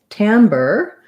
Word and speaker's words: timbre: all right so um timber um has the afowl even though it's spelled with an i this is definitely a quite an exception um and then the re actually sounds more like an er um first syllable stress i want to look